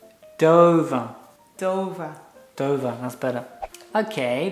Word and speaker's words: Dover: It's pronounced Dover. Dover.